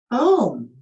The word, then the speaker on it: Om: A-U-M is how it is spelled. And the A is barely present, but it is our root chakra. And then it goes right into the U, which is the sound of the O in home.